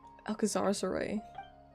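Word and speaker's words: Alcazarzaray: Alcazar's Array. That's how you pronounce that.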